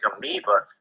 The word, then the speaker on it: amoeba: And I don't know if you remember, the word, like the one cell animal being spelled with an E first because you pronounce it that way, amoeba.